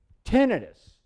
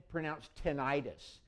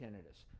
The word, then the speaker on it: tinnitus: Tinnitus, and it's not pronounced tinnitus. It doesn't mean inflammation. That's itis.